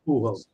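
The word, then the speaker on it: Pujols: Uh, at number four, man, it took me years to get my kid to learn how to say this guy's last name. Albert Puhos.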